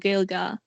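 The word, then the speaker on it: Gaeilge: like that the irish language is not called gaelic it's called gilga and it's doesn't just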